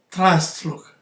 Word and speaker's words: Trustlook: aplikacjach jaki jakiś antywirus nazwę pisze się Trust look tak Trust look Security a wymawia się transluch Security właśnie i Z